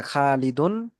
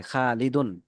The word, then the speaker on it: خالد: তানবিনের উচ্চারণ কিন্তু এই যে এরকম হয়, এরকম না, খালিদুন। Yes, sir. এই এখানে এই জি ওস্তাদ। যে দুই তানবিনটা, এই দুই তানবিন, তানবিনটার উচ্চারণ মূলত শেষে নুন থাকে, খালিদুন, তাই না?